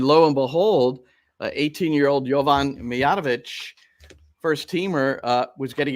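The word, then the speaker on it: Mijatović: Movic Movic was better that's movich mov yeah no movich movich oh my gosh okay Shane says he's got so it's movich I know I butchered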